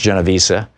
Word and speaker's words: Genovese: year old young woman her name was kitty Genovese and sometimes it's pronounced genovesa who was who lived